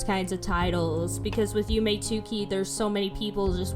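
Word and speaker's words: Yume 2kki: the most known is Yume Tuki, which literally, you pronounce it like Yume Nikki, but there's a 2 there because in Japanese 2 is ni.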